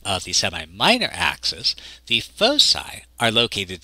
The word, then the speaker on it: foci: a latin word and the plural of focus in latin is spelled this way and usually pronounced foci and so we can